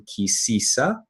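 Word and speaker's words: Ki Tisa: So this Torah portion is called Kitisa, or in the more Northern European Jewish Ashkenaz pronunciation, Kisisa, which has to do,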